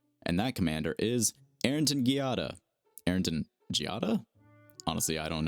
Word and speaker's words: Giada: get into it so Arrington Giada I'm gonna use the hard G for consistency reasons um they are a